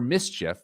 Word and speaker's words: MSCHF: In the whole history of sneakers, this might be the most unique creation yet, even for Mischief, which is spelled MSCHF, even for their ultra high standards.